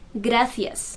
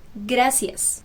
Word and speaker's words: gracias: pronunciation so for example thank you in spanish in spain you will hear it is gracias and in south america you're going to hear it as gracias the c sound is different gra so